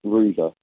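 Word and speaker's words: Hrusa: H-R-U-S-A, so it's pronounced Rusa.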